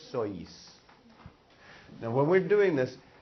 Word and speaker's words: sois: it out so ease now you pronounce both the O and the I vosotros sois now when we're doing